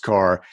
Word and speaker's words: Karrh: k a r RH it's pronounced car it's my own branding